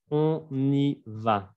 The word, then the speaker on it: On y va: On y va. 3 sílabas.